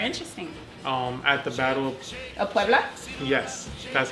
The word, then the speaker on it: Puebla: at the Battle Of Puebla?